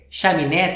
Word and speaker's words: chaminé: né mais uma vez chaminé tem três sílabas chá me né então o assento de apareceu para lembrar para gente que eu vou ler a última sílaba né um pouco mais forte então chame né então